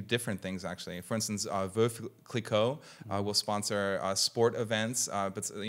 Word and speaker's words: Veuve Clicquot: Well, I might be saying it wrong too with an American twist, but it's the widow Clicquot. So it's probably Veuve Clicquot, something like that.